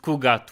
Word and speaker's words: Khu'gath: pronounced Kugat with certainty.